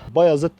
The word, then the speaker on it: Bayazıt: Bayazıt diye okunur. Doğubayazıt değil.